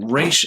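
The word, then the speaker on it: Ra's: far let's grab a race Al ghoul and I've decided on Race because I'm a Batman animated series person and that is uh that's how they pronounce it in there so I'm a big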